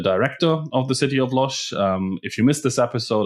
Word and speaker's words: Łódź: We're excited to welcome back a city that we've already talked about in the podcast, if you recall, the city of Łódź in Poland. Perfect pronunciation.